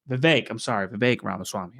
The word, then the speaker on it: Vivek Ramaswamy: And Vivek Ramaswamy. I have learned how to pronounce his name correctly thanks to many people.